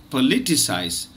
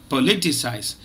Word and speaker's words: politicise: the word for today it is politicize remember it's a four syllable word and the second syllable is stressed politicize keep practicing uh students